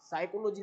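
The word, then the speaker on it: psychology: लेकिन उसको पता नहीं ना, क्योंकि उसको पता नहीं है कि इसमें पी साइलेंट है।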